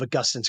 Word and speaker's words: Augustine: It's a I call the book a sci-fi retelling of Augustine's Confessions or Augustine. Both pronunciations are okay.